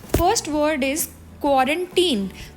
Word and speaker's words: quarantine: तो इसकी correct pronunciation क्या बनी? अगर तो लिखा हो QUARANTINE तो इसको हम बोलेंगे क्वारंटीन, और अगर इसी वर्ड के पीछे ED लग जाए यानी कि TINED हो जाए तो वो क्वारंटीन नहीं होगा, वो क्वारंटाइंड हो जाएगा।